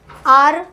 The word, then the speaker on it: hour: यहाँ पे वॉवेल क्या है, एन आर, आर HOUR है, राइट, बट हम लोग प्रोनाउंस कैसे करते हैं, OUR, द वे यू